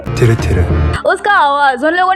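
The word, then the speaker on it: TIRTIR: तो गाइस उसके बाद कल मुझे एक और चीज़ मिला, कल मुझे इस तिर तिर कंपनी का राइट प्रोनाउंसिएशन मिल गया। सो इट्स नॉट तिर तिर, इट्स तिरे तिरे।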